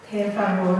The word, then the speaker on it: per favore: Per favore. You hear the R? Isn't that attractive? do it, and I sound like I'm doing a panther's mating call.